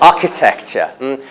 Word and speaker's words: architecture: But no, architecture, with stress on the first syllable, architecture.